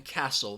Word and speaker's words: castle: the genome and then the T in Castle those are all silent